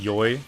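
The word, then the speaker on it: 良い: yeah I can prefer it can be pronounced joy too but E is the normal way to say good for example when you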